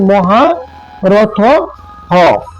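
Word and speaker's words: महारथः: নিবেন হ্যাঁ তারপরে কি মহা রথ হ এখানে কিন্তু মহারথ হ বিসর্গ সমান সমান হর্ম উচ্চারণ করতে হবে এবার আরেকটা ক্লু আপনাদের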